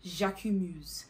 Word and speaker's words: Jacquemus: Jac so how do okay so it's called jaim Muse let me quickly open this bag before I forget how to pronounce it again I pronounce something else but